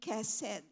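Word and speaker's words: חסד: So I thought it was chen and chesed, but I researched and the way they pronounce it is ken and kesed.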